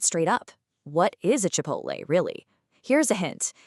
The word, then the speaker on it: Chipotle: It comes from Spanish, so it's not Chipotle, it's Chipotle. Say it with me. Chipotle.